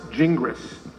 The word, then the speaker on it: Gingras: big debate okay so in English-speaking countries it's best pronounced jingris however I had to